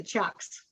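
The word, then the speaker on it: Chux: with the blue uh i'm not sure how to pronounce the word nancy paladin uh c-h-u-x oh with the chucks okay okay all right that is how you say it all right i i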